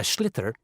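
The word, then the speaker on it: sliotar: this ball called a schlitter that's s-l-i-o-t-a-r so it's not spelt the way it's pronounced you hit it into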